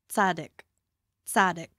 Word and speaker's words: Tsidkenu: Tsadik. Whoa. What? That is not what it looks like. Again? Tsadik. Tsadik. It's a T-S or a T-Z yeah. sound.